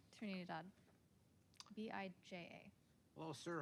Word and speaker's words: Bija: My name is Bija. Like, it's pronounced with a ja sound, not like.